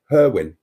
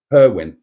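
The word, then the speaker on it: Hirwaun: you pronounce hidne now my father who is a native wal speaker always pronounced it herwin herwin it's spelled if you don't know h i r w a u n uh and before he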